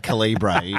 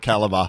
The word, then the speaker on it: caliber: I'm watching Andy host a fashion parade saying calra instead of caliber hey look I'm a voiceover guy I just